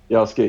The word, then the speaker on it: Yasuke: The other, the other black representation I would like to talk about is I keep on pronouncing this wrong. Is it Yasuke? Yasuke, yes, Yasuke.